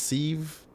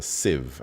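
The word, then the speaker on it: sieve: template wait is it is it pronounced seeve I forget if I'm mispronouncing it Civ Civ it's a Civ I knew it I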